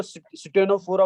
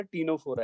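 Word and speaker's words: Ctenophora: सी silent रहेगा और टी से शुरू करेंगे। कुछ बच्चे इसको स्टेनोफोरा बोलते हैं, तो स्टेनोफोरा कोई वर्ड नहीं है बेटा, टीनोफोरा है।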